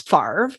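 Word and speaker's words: Favre: the green bay packers was farv and he spells his name fabre and so people like will say fabre instead just to remember how to spell it but that's like a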